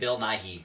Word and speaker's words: Bill Nighy: So I always say Right. Bill Nighy because there's a Y at the end. Yes, there I is.